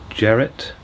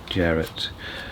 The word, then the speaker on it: Jarrett: Keith JRo is that is how do you pronounce that? Jarrett. Jarrett.